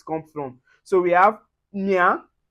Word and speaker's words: mien: And then when you see IEN or YEN or E accent aigu, that's the acute accent with the EN, we pronounce it as un.